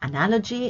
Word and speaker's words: analogy: Here's a definition for an analogy in Oxford Learner's Dictionary. Sorry. You have here the primary stress. There's only one stress, so single stress. Analogy, that's how you pronounce this word.